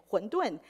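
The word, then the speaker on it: 馄饨: In Mandarin, they also pronounce pretty much the same, huǔndùn.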